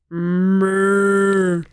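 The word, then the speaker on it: moue: But when you have it in audiobook format and you don't see that it is spelled M-O-U-E, it sounds like somebody is turning with a moo and you just hear moo.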